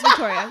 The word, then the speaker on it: Victoria: Yes, it's Victoria. Yeah. And but it's a hard O.